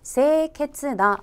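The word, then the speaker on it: 清潔な: 발음 은 " 세이 케츠나 " 입니다 .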